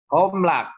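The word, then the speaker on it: הָמְלַךְ: Homlak ya, jadi membacanya diingat-ingat ada O ya, dibaca O ya.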